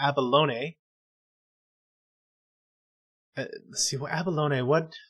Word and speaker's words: Avalon: of the ues then avalon which um andrea told me the correct way to pronounce it the abalone uh let's see abalone